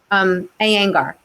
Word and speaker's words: Iyengar: Iyengar. It's spelled I thought you said anger. I'm like, what? Iyengar. Anger. Thank you. Not anger.